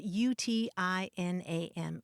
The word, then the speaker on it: utinam: it means basically would that or if only it's spelled UTI n a m utinam i was reminded of that when we